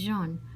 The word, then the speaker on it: jaune: Dink said the French word for yellow sounds just like Joan.